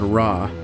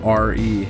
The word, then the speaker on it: Re: At one point, Sobek was merged with the sun god Ra, also spelled R-E and pronounced Re, becoming Sobek Re, and often referred to as he who rises in the east and sets in the west.